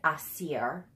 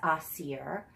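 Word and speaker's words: Aasir: all the pronunciations, and it is spelled A-A-S-I-R. And so I'm saying it Asir. It's Asir. But you're supposed to roll the R and make it sound, but I don't have an African accent.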